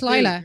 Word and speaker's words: Lyla: They spell it Lyla. That's Lila. So it's still got to be Lila. Y is usually an I sound.